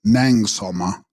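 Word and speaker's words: snang-gsal-ma: Tibetan Gluma, pronounced Luma, and Snang Salma, pronounced Nang Salma.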